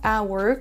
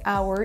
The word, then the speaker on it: hour: Pour info, il y a seulement 4 mots en anglais où il y a un H en début de mot et ils ne se prononcent pas. Ce sont les mots hour comme l'heure.